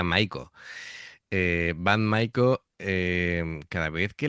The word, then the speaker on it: Maiko: Me pasa cada vez que las veo creo que es Bad Maiko, que lo he pronunciado mal, ¿vale? Me he tomado yo en plan en inglés y sería Maiko.